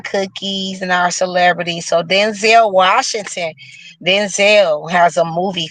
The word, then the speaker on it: Denzel: So like I told y'all, I was last week years old when I learned that it's actually pronounced Denzel, not Denzel.